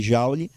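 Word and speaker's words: joule: jaou o Jou né Escreve Jou pronuncia jaou que é a unidade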